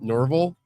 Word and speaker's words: Norville: says it's pronounced like Orville. There we go. Norville.